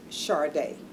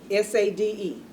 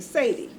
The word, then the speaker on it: Sade: I said, "Your Honor, her name is pronounced" The little girl's name was Sade. Spelled like S A D E. And the judge kept saying Sadie.